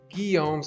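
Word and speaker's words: Guillaume's: although you totally could use enigma we're using guilloms that's how you pronounce it hi lords although we actually don't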